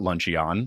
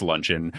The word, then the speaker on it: luncheon: Me, for example, in 5th grade, I learned that it's not Luncheon, like it's a Pokemon, it's Luncheon. It was one of those popcorn reading things in class.